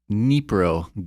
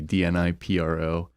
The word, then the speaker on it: Dnipro: Ukrainian city, DNIPRO, Okay. which I had to look up the pronunciation before this because I was like, it's not DNI Pro, it's Dnipro.